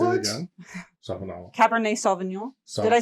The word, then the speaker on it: Sauvignon: Sauvignon.